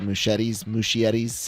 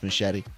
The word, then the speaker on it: Muschietti: The director and producer spouse, the Muschietti, however you pronounce it, I think it's just Muschietti.